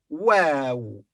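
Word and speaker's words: واو: It's called wow. Wow.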